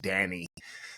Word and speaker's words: Danne: Friends, that bio couldn't begin to demonstrate all of the things that my friend Danny has done. By the way, that's how her name is pronounced, Danny.